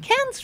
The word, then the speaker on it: Cannes: And I think it's pronounced Cannes, but a lot of people call it Cannes because they think it's going to be Cannes.